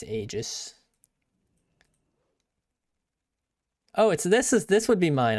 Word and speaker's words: Aegis: My name is pronounced Aegis.